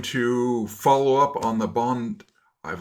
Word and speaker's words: Bondi: And uh we are going to follow up on the bond. I've learned it's Bondi Beach attack, not Bondi. Uh Aussies have funny ways of pronouncing things and so it's Bondi.